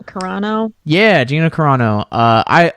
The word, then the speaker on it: Carano: carla gonina i don't i so i could pronounce the names oh uh gina corrado carano yeah gina carano uh i i love call